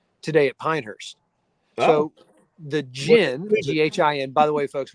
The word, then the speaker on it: GHIN: It's GHIN. It's pronounced GHIN.